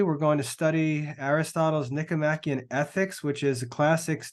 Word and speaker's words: Nicomachean: That's how you pronounce that word, Nicomachean.